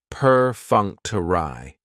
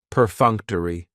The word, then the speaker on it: perfunctory: Perfunctory has 4 syllables, and the stress is on that second syllable, that funk. Perfunctory. That third syllable has the schwa, and it's going to end with that long E sound.